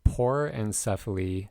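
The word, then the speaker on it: porencephaly: into more detail on later next what is pore encephaly which is sometimes called a porin cephalic cyst that is spelled p o r e n c e c-e-p-h-a-l-y por encephali is a mild form of hydrancephale in which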